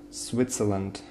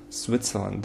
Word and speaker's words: Switzerland: Switzerland, Switzerland. The first syllable is stressed.